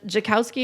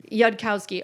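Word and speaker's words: Yudkowsky: Jacowski is how you say his name? Yudkowski.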